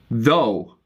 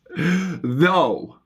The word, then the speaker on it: though: Then of course you have another word with O-U-G-H, but it's pronounced thaw. Through. Wait. Though. I'm confused. I get confused by the TH words. Though.